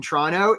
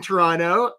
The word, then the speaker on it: Toronto: to go, Kate in Toronto, if you're Did you notice how I didn't pronounce the second T? Kate, if you're struggling with ways to describe what you do, Wendy, also in Toronto, again, no second T Karen in New Jersey.